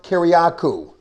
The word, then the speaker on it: Kiriakou: is because i am here with mr john kiriakou i pronounced that correctly you did indeed greatly appreciate